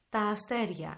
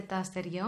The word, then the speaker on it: αστέρια: Τα αστέρια. In plural form, τα αστέρια. It is pronounced like αστέρια, like having a γάμα, a hidden consonant, γ.